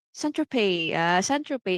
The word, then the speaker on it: Saint-Tropez: Tas ito, thank you kay Mentor P, siya-correct ako 'no, Saint-Tropez ang pronunciation, pero ang spelling Saint-Tropez. Pero Silent Z, Saint-Tropez, it's like France, oh, 'di ba?